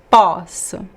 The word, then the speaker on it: posso: are very similar words, but poço, the well, poço is pronounced with the closed O, po, poço, poço. And the verb I can, in this case I cannot, não posso, it is open, the open O, posso, posso, poço, posso.